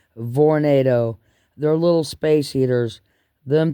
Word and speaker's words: Vornado: V instead of tornado they're pronounced with a V Vornado they're little space heaters